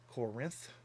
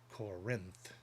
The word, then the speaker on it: Corinth: They put emphasis on the Rinth. Corinth, or Corinth, or Corinth. Corinth.